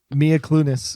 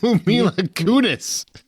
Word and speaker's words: Mila Kunis: make thatch happen um Mia clunis is that the one that then took over and what the did you just say Mila Kunis glutinous there's no l in that Mia not Mila